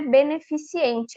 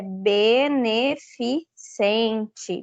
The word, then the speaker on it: beneficente: alguém fala beneficiente então gente não é beneficiente é beneficente beneficente certo programa que mais simples esse beneficente né Um pouquinho mais difícil porque a gente está acostumado a ouvir pessoas falando beneficiente mas o correto é beneficente lembrando o pessoal que